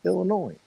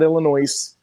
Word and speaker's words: Illinois: charlie g in payoria illinois not illinois illinois the s is silent for all y'all don't understand that all y'alls hmm oh